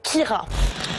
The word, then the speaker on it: Ciara: problèmes de prononciation alors la prononciation exacte en gaélique c'est keira et non pas chien peur parce qu'il en était